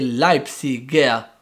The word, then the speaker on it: Leipziger: esempio diciamo lightsey però l'abitante di lipsia e leipziger perché aggiunge la r dopo la g quindi concludendo la pronuncia tedesca non è così complicata non è